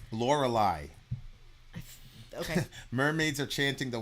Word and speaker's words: Lorelei: mermaids are chanting the wild l'oreali I don't know how you pronounce that but I looked it up I know we don't usually do that in a review but I had to know Lorelei okay mermaids are chanting